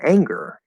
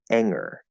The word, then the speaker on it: anger: example with the word anger anger anger oh there's a good there okay what if i try to take that g away anger anger that doesn't sound like the right word anymore and this is the